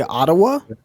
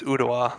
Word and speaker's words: Ottawa: I go to udwa are you trying to say Ottawa no it's udawa that's how they pronounce it why does that remind